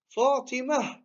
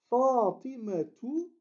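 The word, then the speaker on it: فاطمة: Eh bien, comment on le lit si on s'arrête? On dit Fatima. Fatima. Mais si on veut dire, par exemple, Fatima étudie, on dira Fatimatu tadrusu. Fatimatu tadrusu. Et on va prononcer ici cette lettre-là comme un T si on continue. Mais si on s'arrête, on dirait Fatima, tout simplement.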